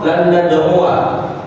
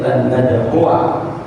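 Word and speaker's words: لن ندعوا: Kalau dia dibaca pendek atau dibaca waqaf, maka dia dibaca panjang lan nad'u. Tapi kalau dibaca wasal, dia dibaca pendek lan nad'uwa.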